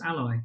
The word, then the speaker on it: a11y: a and the y therefore a 11y which also nicely phonetically you can pronounce as ally if you're a child